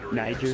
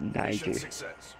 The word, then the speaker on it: Niger: Niger.